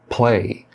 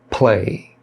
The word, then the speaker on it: play: Na palavra play, Mais uma vez você tem uma palavra iniciando com P, então você tem que fazer a aspiração play, play.